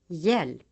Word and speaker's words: hjälp: The letter J is sometimes preceded by another consonant in the writing system. In such cases, the other letter is always silent. Examples. Jorde. Djur. Hjälp.